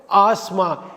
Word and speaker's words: asthma: சொல்லுங்கள், ஆஸ்மா. ASTHMAல THஐ உச்சரிக்கக்கூடாது. ஆஸ்மாங்கிறது தான் சரியான உச்சரிப்பு.